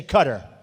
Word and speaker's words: Qatar: showing me the airport in Qatar which they say cutter I've always said qar so what the hell